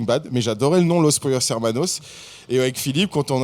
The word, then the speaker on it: Los Pollos Hermanos: Faut le présenter à l'espagnol, quoi. Ouais. Pollos. Vas-y, dis-nous. Los Pollos Hermanos.